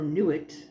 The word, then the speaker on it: Nut: In Egypt, it was, I want to say her name is pronounced Nut or Nuit. It's usually spelled N-U-T like nut, but it's not nut. I think it's Nut.